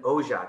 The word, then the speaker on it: Oja: And we have Oja. Am I saying it right? Yes, hard J, you got it.